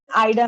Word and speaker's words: Ida: It's pronounced as Ida, ma'am.